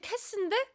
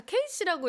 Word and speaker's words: Kassy: 근데 사실 캐스인데 모든 분들이 다 KC라고 읽으시더라고요. 그래서 그냥 KC라고 했어요.